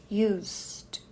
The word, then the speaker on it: used: preciso acrescentar outro e para deixar no passado eu só coloco um d simplesmente Used Us e esse e aqui é mudo eu vou direto do S que é longo pro D US Used I used to go